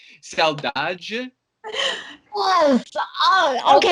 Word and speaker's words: saudade: Saudade. Yes. Oh, okay. Saudade.